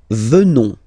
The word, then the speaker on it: venons: Nous venons. Okay? O-N-S, classical ending for nous. Okay? Final S not pronounced. So O-N, on, venons, venons.